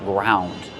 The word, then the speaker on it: ground: In the past, ground. I ground the pepper with a pepper mill. How do we pronounce it? Ground. Use the ow sound like around and about.